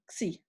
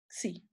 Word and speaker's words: xi: So it is written in this Greek letter, okay, and pronounced as xi, okay, xi.